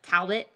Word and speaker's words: Talbot: Yeah, Talbot, it's actually kind of funny because Steph is from Australia. So you kind of pronounce her last name in a little bit of an Australian accent. So it's like Talbot. Talbot, if that, yes. Yeah. So that's how you say it.